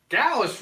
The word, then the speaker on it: Gallus: Gallus rhymes with Dallas, man, and Dallas is the name Yes, of you already my did nephew.